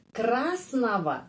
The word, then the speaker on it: красного: Di sini kita bisa melihat, ya, красного, ada huruf G, tetapi pengucapannya V. Dan huruf O ini pengucapannya A, huruf O ini pengucapannya A. Kenapa? Karena penekanannya berada pada huruf A, vokal ini.